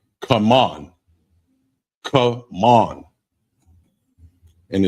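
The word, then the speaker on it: כמון: Cumin, and it's pronounced come on.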